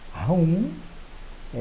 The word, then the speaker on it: whom: Toda palavra em inglês que termina em N, você termina de pronunciar fechando a boca. Whom, fechando a boca. Enquanto com M seria whom, né? Não teria a boca fechada.